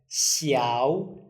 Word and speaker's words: 小: Xiǎo. Xiǎo. So just try to open your mouth or widen your mouth a bit more and then pronounce this.